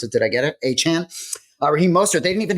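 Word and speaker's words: Achane: Duvon Achan, that's how he wants us to pronounce it. Did I get it? Achan.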